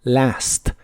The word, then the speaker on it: last: desde el año pasado si quieres ser muy Exacto en la pronunciación la a de la palabra Last también se pronuncia con el sonido que es la combinación de e y a Last since Last year since